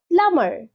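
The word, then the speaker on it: plumber: থাম লাস্টের be silent প্লামার এটাও ভুল সঠিক উচ্চারণ হবে প্লামার প্লামার প্লামার মানে হচ্ছে জলের মিস্ত্রী এবং প্লামারের বিটাও সাইলেন্ট আছে নেক্সট কি আছে আরি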